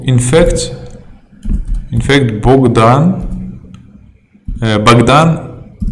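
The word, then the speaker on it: Богдан: fact in fact Bogdan baghdan it's written like Bogdan but it's pronounced like Baghdad so book in Russian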